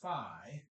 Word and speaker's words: phi: That's epsilon and phi, sometimes pronounced phi, just depends on who taught you your Greek, and I'm sure one of those is correct.